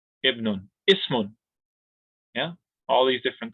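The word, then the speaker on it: ابن: If the Hamza Talwasso is by itself, like in this scenario, ibn, it's not part of alif lam, then we're going to pronounce it with the kasr. Ibnun, ismun.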